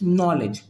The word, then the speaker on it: knowledge: जैसे KNOWLEDGE, इट्स नॉलेज, है ना, इट्स नॉलेज। हेयर के इज साइलेंट, ओके, ये आपका प्रैक्टिस से आएगा।